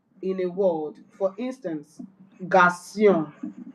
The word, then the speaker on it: garçon: It is used to give C and S sound instead of a hard K sound. When C is followed by A or O in a word, for instance, garçon, garçon, which means boy, and